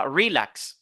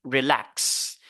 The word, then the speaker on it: relax: on dit begin begin on a relax relax c'est pas relax non on dit relax on a explain explain